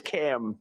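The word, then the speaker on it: Kamla: It's Cam. What? Cam as opposed to come.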